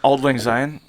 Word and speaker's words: Auld Lang Syne: I- The same old Lang Sin. Is that how you say it? Scene. You guys know that song? Maybe same old. Oh, Auld Lang Syne.